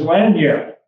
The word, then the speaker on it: lagniappe: And if you're interested, it's spelled L-A-N-G-I-A-P-P-E, lagniappe, just like it sounds.